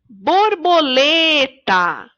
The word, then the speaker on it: borboleta: Borboleta. Na palavra borboleta, a sílaba mais forte é a sílaba lê. Então, ela é a sílaba tônica da palavra borboleta.